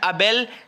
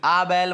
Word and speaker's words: Abell: तीसरी जो न्यूज आपको लिखनी है वो है अबेल 370, ABELL 370। आबेल मत याद रखना इसको, अबेल 370 याद रखिएगा, ठीक है ना।